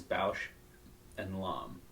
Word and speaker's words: Bausch & Lomb: Don't know if I learned the official pronunciation is Bausch and Lomb. Bausch and Lomb. Even though it's written like comb, C-O-M-B, L-O-M-B. Yeah. Lomb.